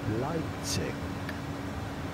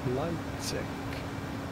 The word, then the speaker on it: Leipzig: In German, it is pronounced Leipzig. Leipzig.